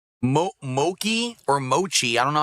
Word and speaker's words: mochi: It's pronounced mochi.